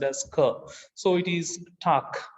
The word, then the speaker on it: Tag: the g comes at the end it is pronounced as ker so it is tak not tag it is stuck so they are targ and